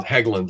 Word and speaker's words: Helgeland: And then this is not, he's, still very active, but Brian Helgeland, is that how you say his name? Hegland, yeah.